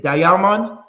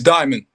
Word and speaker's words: Diamond: check this out um D Damon it's diamond diamond yeah brother thank you